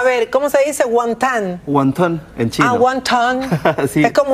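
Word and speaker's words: wantán: Guantán, en chino. Ah, guantán. Sí. Es como una O-A, guantán.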